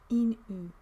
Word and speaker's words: ENO: I don't know how you pronounce that name. N-O? Inu. Inu. It's a Danish name.